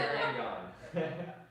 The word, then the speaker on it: Carignan: the trick is Carignan. Yep. That's how you say it. So- Carignan. I like to reference the Kansas song "Carry On, My Wayward Son."